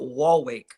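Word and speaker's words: Waalwijk: And then you got wall wake.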